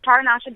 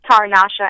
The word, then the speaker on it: Tarasha: check but um it's taranasha w um people think that uh Tara my name is pronounced Tara Nasha but it's just tarasha and my first initial